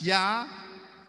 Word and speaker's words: Yahweh: He says, "My name is Yahweh," spells Y-H-W-H, and it is pronounced Y-A-H, Yah, that's Yahweh, H-E-W.